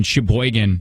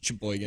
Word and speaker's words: Sheboygan: How do you say it? Sheboygan. I say it Gin. Sheboygan. Yeah. Gin. Sheboygan.